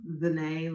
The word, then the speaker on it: ZaNai: Yeah, so ZaNai Brooks, ZaNai like Renee with a Z.